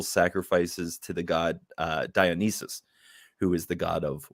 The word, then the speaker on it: Dionysus: serve Dionysus Dionysus um diagnosis how am I saying it wrong Dionysus is correct Dionysus okay um we